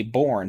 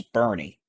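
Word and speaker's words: Boerne: I always say Bourne, but it's Bernie, west of San Antonio.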